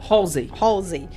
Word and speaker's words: Halsey: Qual a pronúncia certa? É Halsey.